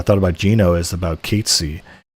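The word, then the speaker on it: Cait Sith: about Gino is about Katy or or Kate Sith as it's written, but if you say it how it's pronounced, no one will know who you're talking about.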